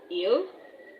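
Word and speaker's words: ils: Il even though you pronounce it as il it's having s.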